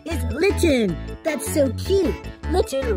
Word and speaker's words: Litten: Litten rhymes with kitten.